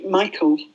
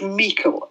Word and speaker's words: Meikle: call about somebody, George Michael, or not George Michael as in you would think, but George Meikle is probably the correct pronunciation. It's a Scottish surname.